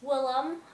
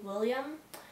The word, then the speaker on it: Willem: park, where she meets Willem. I think his name is pronounced Willem. I keep wanting to say William, but it's just Will and then E-M.